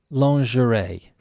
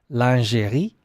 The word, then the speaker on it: lingerie: this is lingerie lingerie and we have a a French pronunciation but I know the French pronunciations actually lingerie if I'm correct you can correct me online and let me know uh but in English we think we are pronouncing this the French way but in fact we're pronouncing it our own wrong way lingerie l-i-n-g-e-r-i-e and number